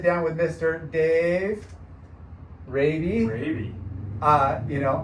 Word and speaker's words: Rabe: Rabe. I asked before the show just to make sure I was pronouncing it right. And it's just like the disease, which is why he